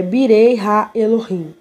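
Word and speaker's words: בני האלוהים: O hebraico é Birei Ha Elohim. Eu estou falando a pronúncia, tá? Se escreve Benei Ha Elohim, mas se pronuncia Birei Ha Elohim.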